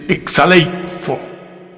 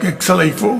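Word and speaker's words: ἐξαλείφω: Es es exaleifo. Bueno, hay hay quien diría exaleifo.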